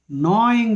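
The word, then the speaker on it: gnaw: and now they started KN The Roots g n a w g is silent no means nibble n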